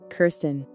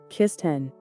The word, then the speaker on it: Kirsten: this is how we pronounce the name there are three ways of pronouncing this name Kirsten Kirsten or kisten Kirsten Kirsten or kiss 10.